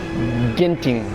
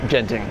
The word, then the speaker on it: Genting: there you go guys it's gting Highlands not Genting so sorry sorry sorry